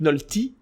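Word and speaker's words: Nolte: Alors, je crois qu'on même on prononce Nick Nolti parce que ça prononce à l'américaine.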